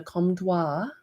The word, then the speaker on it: Comtois: So he is the little drafty guy that I released, the Comtois is how you pronounce it, which is kind of funny.